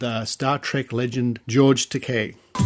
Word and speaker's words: Takei: into Gene roddenberry's office first of all he mispronounced my surname he called me takai but I corrected that I said my name is pronounced Takei but I don't object to Kai because that's